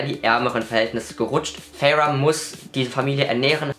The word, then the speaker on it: Feyre: Und ich habe nachgeguckt, es wird Feyre ausgesprochen. Es wird von Sarah J. Maas Feyre ausgesprochen. Es wird von allen englischen Booktubern Feyre ausgesprochen.